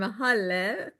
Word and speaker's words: Halle: I'm Halle, pronounced like hallelujah. So it's Halle. Thank you for the Say it, introduction. hallelujah. Right. That makes it easy for people to remember when you say Halle, like hallelujah.